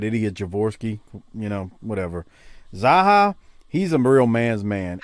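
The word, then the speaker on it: Zaucha: fans zaha it's pronounced zaha it's zaha it's like baja but za zaha all right so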